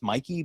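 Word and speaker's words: Myke: I it's it's uh it's Mikey but spelled like m uh y ke uh so it's uh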